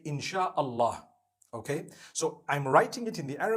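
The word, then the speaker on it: Insya Allah: They pronounce the S-Y the way we pronounce S-H. So they can write it how they want, for as long as when people read it, they read it Insha'Allah.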